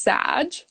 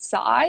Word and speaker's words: Saj: name before sure yeah so it's pronounced sag um a lot of people say like sag or um i have some cousins actually who pronounce it psy and there's a couple